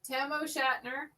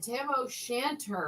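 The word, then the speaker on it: Tam o' Shanter: We got tiara, square head van, Tamo Shatner, bonnet.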